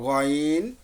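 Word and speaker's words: غين: গয়ন লেটারটার উচ্চারণ হলো গয়ন। গয়ন, সাদ্দাম হোসেন ভাইয়া আছেন?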